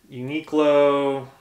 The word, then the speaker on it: Uniqlo: Uniqlo, that's how you say it, merino wool long sleeve shirt.